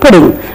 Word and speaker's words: pudding: m it is not pudding the cake that we prepare it is pudding so Double D is not stressed in English language and then the next